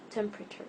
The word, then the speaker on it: temperature: placed before the R so if you're writing the word temperature and you know there is silent letter e and that but you don't remember where it is know for sure that it's before the first R also in interested desperate